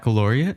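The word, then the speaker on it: Baccalaureate: second year of high school I couldn't even pronounce it International Bec backarat is it baloria yes did I say it right yes she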